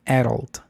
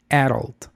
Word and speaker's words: adult: Y también tuve ese choque eh cognitivo en Estados Unidos porque escuché que las personas pronunciaban adult adult con el acento en at adult y yo la había aprendido supuestamente como adult.